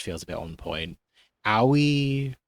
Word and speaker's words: Aoi: Aoi or Ow, it's AOI, so I'm pronouncing Aoi.